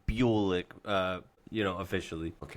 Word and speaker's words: Bulik: Bulock. Everyone calls me Bulock. So I just kind of embrace it, but it yeah, it's pronounced Bulick.